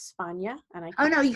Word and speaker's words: Spagna: It's Spana. And I Oh, no. You can say Spagna.